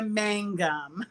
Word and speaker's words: Mangum: it wrong here's my name is mangum mango okay see you see i i have